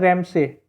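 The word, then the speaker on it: Ramsay MacDonald: Question number 12 है, अगस्त 1932 में रैमजे मैकडोनल्ड्स, देखिए रैमजे लिखा हुआ है लेकिन इसको हम प्रोनाउंस करेंगे, इंग्लिश में जो लिखा जाता है ये लिखा जाता है रैमसे, रैमसे लिखा जाता है, SAY होता है ये।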